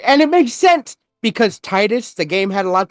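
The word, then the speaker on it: Tidus: both are great uh Titus is tight it's not Adidas yes because surprise surprise everyone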